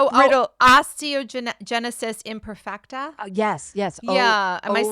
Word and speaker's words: osteogenesis imperfecta: Osteogenesis imperfecta?